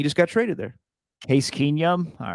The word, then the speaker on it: Keenum: Case Keenum. He just got traded there. Case Keenum? All right. Damn. And yeah, that's how you pronounce his last name.